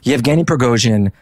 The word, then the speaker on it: Yevgeny Prigozhin: Let's start back from the beginning, though, and I will probably mispronounce this name like I mispronounce everything, but Yevgeny Prigozhin.